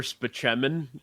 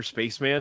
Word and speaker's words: Spaceman: a doctor in it called Dr speman and and Tracy Morgan calls him Dr Spaceman because that's the way it's spelled but he always like